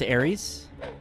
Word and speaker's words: Ares: I believe that's Ares. As in the Roman god.